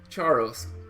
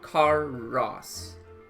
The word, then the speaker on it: Charos: Charos. Oh, I've been pronouncing it wrong. Karos.